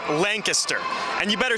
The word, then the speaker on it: Lancaster: It's spelled Lancaster. It's pronounced Lancaster.